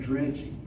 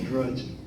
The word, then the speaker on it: dredging: And see, a lot of people will call it crab dredging, which is correct how it's spelled. But if you work on the water, it was crab drudging. So that's why we call it drudging.